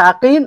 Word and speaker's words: আকিল: এখানে দেখেন বাবার নামে পার্থক্য লিখা একই। আপনি লিখতে দেখতে একই লাগবে। কিন্তু উচ্চারণে আলাদা আলাদা। একটা হচ্ছে আকিল আরেকটা হচ্ছে ওকাল।